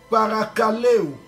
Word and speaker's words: parakaleo: Et parakaleo. Parakaleo. Parakaleo, ça s'écrit P-A-R-A-K-A-L-E-O avec accent circonflexe.